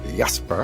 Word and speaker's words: Jesper: yes for makes it's it's spelled j s e e r but that's not how you say it in Danish it's yesper yesper yesper makes building a